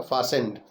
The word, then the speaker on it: fastened: फिर है फासेंड, FASTENED, इसमें टी साइलेंट रहता है, उसको उच्चारण करते समय नहीं बोलते हैं, तो ये पढ़ा जाएगा फासेंड।